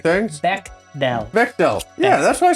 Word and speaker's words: Bechdel: Does it pass the Bechdel test? The Bechamel?